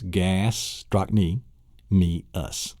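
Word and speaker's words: gastrocnemius: It's gastrochny, me, us. It's actually 4 syllables. It's not gastrochny, me, us. It isn't 5 syllables.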